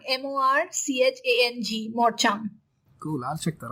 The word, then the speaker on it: morchang: so that was a revolution interesting how's it pronounced again morchang morchang m o r c h a n g morchang cool I'll check that out so uh